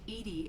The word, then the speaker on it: EDI: why are you named Edie Edie is the phonetic pronunciation of EDI that is an acronym for enhanced defense intelligence